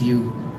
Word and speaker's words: Ryu: His name is actually pronounced Hiu, but every time I say Hiu, people think I'm saying Hiu, so I call him Ryu.